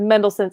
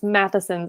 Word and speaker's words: Matheson's: I said Mendelssohn's. It's Matheson's. I just got a correction.